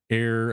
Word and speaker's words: heir: Grabbed an Excalibur special edition, Heir Apparent. Air spelt AIR.